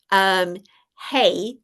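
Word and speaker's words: ה: So the Hebrew letter, hey, and it's actually pronounced that way, and it actually is more traditionally spelled Hey.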